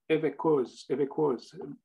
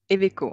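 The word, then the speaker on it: Evéquoz: J'aimerais inviter maintenant Evekoz. je m'excuse, comment on dit votre nom de famille? Je ne veux pas le... Eveco, on ne prononce pas le Z, mais sinon c'est pas grave.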